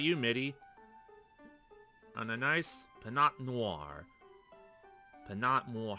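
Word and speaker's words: Pinot Noir: think it's this one oh the tea is silent yeah yeah I forgot the tea was silent yeah clearly first try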